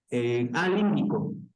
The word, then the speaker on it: límbico: Límbico. Sistema límbico. El nombre es Sistema límbico. límbico, con acento en la primera, bueno, es de ahí.